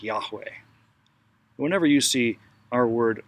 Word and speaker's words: Yahweh: it's this word and if you listen to yourself breathe you can sort of hear this name in the in-breath and out breath foreign so if you